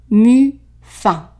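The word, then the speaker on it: muffin: Loucher la pâte dans la tasse de mu-fin. So the IN here is pronounced un.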